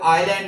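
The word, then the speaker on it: island: जैसे हमने कहा कि एस जो है वो आइलैंड में की हम आइलैंड पढ़ते हैं। S slips away in आइलैंड words.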